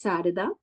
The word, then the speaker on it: Sarada: My name is Sarida. Uh it's pronounced as Sarah and uh I am